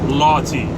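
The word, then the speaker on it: Lawtey: It's spelled it's spelled L-A-W, law, T-E-Y, Lawty. That's how you would say it. But it's probably, if you live down in Florida, it's Loudy.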